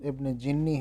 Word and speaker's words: ابن جنی: یہ ابن جنی ہے، اس کو ابن جنی وغیرہ پڑھتے ہیں، تو اس کا اصل تلفظ ابن جنی ہے.